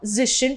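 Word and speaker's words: -zig: அதை எப்படி ப்ரொனவுன்ஸ் பண்ணணும்னா ஜிஷ்ன்னு ப்ரொனவுன்ஸ் பண்ணணும், நாட் அஸ் அ ஜிக், ஜிஷ்ன்னு pronounce பண்ணணும். ஸோ 20 and 30 நீங்கள் மெமரைஸ் பண்ணிடுறீங்க.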